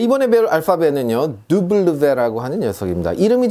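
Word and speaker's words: double vé: 네, 이번에 배울 알파벳은요, 두블르베라고 하는 녀석입니다. 이름이 좀 어려우니까 같이 한번 따라해 보겠습니다. 두블르베, 두블르베 이렇게 합니다. 두블르베. 한 번은 그냥 블 하고요, 마지막에는 v 사운드 해서 두블르베 이렇게 읽습니다.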